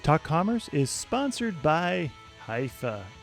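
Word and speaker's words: Hyvä: to Commerce is sponsored by hia or as the Europeans say hoofa or the right way to say it hufa is rapidly becoming the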